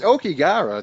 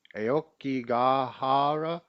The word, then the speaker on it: Aokigahara: It's Okigara, the Okigara Forest. No. I guess we'll give you some frequency. Aokigahara. A better pronunciation, maybe. Aokigahara.